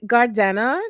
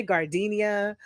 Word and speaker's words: Gardena: I partner with the Sun Goddess Beauty Center in Gardena. Did I say it right? I want to say Gardenia. I was like, no.